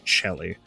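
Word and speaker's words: coeli: It's C O E L I in English, but it's pronounced Chelly.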